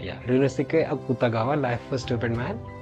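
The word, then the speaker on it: Ryūnosuke Akutagawa: that after that uh uh It's let me pronounce the author's name. It's Runosuk Akutagawa. Yeah, Runosuk Akutagawa.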